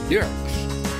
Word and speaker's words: Dierks: I want to introduce you to Bob Dierks. Did I pronounce that right? Yes, German sir. Way? Yes. Bob Dierks.